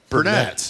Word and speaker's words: Burnett: I always get the emphasis on the name wrong. I'm sorry. Please help me. Co-written with T-Bone. Burnett, yeah. Okay. I almost like, is it Burnett? It is.